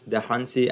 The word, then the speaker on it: Dahunsi: i'm here with our guest today lawrence the hunty i hope i'm not butchering your last name